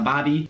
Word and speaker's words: barbie: But that is a Bobby, spelled like Barbie, but not that Barbie. This type of Barbie, a barbecue.